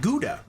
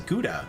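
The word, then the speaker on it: Gouda: that's pretty funny yeah Germans say it's a ga and I'm like which I get because that's actually like how it's pronounced like you sound it out g u it would be G but everybody says guda like every everywhere in America that's not like a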